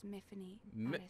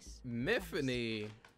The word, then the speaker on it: Myfanwy: Know that your real name is Myfanwy. Myfanwy. Myfanwy. Rhymes with Tiffany.